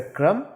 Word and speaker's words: कर्म: उसी तरीके से क्रम और उसी तरीके से कर्म, यह है क्रम, यह है कर्म, दोनों के उच्चारण में फर्क है।